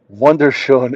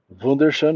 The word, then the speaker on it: wunderschön: Organic says, "Wunderschön is German, eh, Stark?"